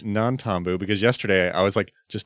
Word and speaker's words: Nantambu: up until literally yesterday, I kept calling it Nantambu without an N. Oh, yeah. I was like, wait, Tyler, I'm looking at your notes and part of these don't have it spelled with an N, and I was really confused. It is Nantambu because yesterday I was just typing stuff out.